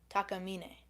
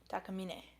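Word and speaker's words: Takamine: we look it up how is Taca pronounced Tak takamina is what this says the source says Forum takam takam well they're Japanese so dampy has arrived hello so takamina takamina is I guess the correct pronunciation are they yeah they're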